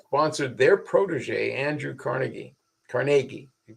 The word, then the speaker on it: Carnegie: the Philadelphia people sponsored their Protege Andrew Carnegie Carnegie you pronounce it to build a new a whole